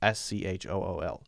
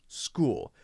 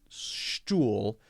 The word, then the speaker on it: school: School, for example, SCHOOL, school. It's not pronounced stool, it's pronounced school, right?